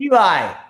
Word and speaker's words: Ilay: This guy This guy Now, they they pronounce it different ways. Some Some say Ela, some say EA. Can you please tell me how how to say this? Record straight. Eli cuz some people say Eli Eli seven and one fighter.